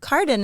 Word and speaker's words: Cardin: uh I don't want to pronounce your last name wrong Carden Carden is perfect Carden yeah thanks for having